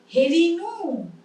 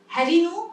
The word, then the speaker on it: হেরিনু: দন্তের নয় হস্য, হেরিনু, তাহলে হেরিনু, হেরিলাম, ওখানে হ্যারিলাম, হ্যারিনু নয়, আবার হেরো নয়, হেরো মাঠের পথে ধেনু নয়, হেরো মাঠের পথে ধেনু, কারে হেরিলাম।